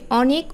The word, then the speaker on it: অনেক: অ আছে দুটা শব্দেই প্রথম শব্দ অনেক এখানে অ এর উচ্চারণটা কেমন হয়েছে একটু চোয়ালটা বেশি বিস্তৃত হয়েছে বেশি প্রসারিত হয়েছে অ আর অতি এখানে কিন্তু চোয়ালটা কম প্রসারিত হয়েছে এবং ঠোঁট অপেক্ষাকৃত বেশি গোলাকার হয়েছে এই অতি যে অখানে